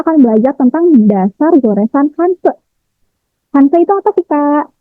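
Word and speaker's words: 汉字: Bacanya bukan Hanji, tapi Hanse.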